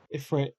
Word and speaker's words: Ifrit: Ifrit.